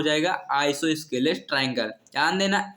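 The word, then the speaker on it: isosceles: इसको कुछ लोग आइसोसेल्स बोल देते हैं, लेकिन इसको सही सही आइसोस्केलस ट्रायंगल बोलते हैं।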